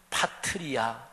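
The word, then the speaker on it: πατριά: 그런데 이 족속은 파트리아 이렇게 발음이 돼요.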